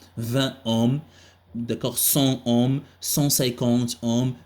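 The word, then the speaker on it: Ω: D'accord, le symbole que vous avez ici, c'est, donc, elle s'appelle oméga, mais ça se prononce ohm. On dit R égale à 20 ohms, d'accord, 100 ohms, 150 ohms, 2000 ohms, d'accord.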